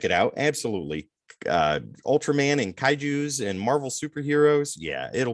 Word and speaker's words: kaiju: You said it's pronounced kaiju.